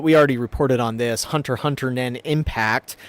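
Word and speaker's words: Hunter × Hunter: Hunter Hunter Nen Impact I learned you're not supposed to pronounce the X there has also been shipping out there.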